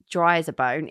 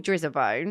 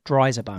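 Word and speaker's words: Drizabone: No, a lot of people pronounce it drizzle because that's how it's spelled, but they are It is pronounced Dryabone, but it's Real Love.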